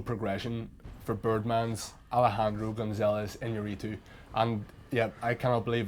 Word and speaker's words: Iñárritu: This felt like the natural progression for Birdman's Alejandro Gonzalez Iñárritu, and yeah, I cannot believe that I managed to pronounce his name correctly as well.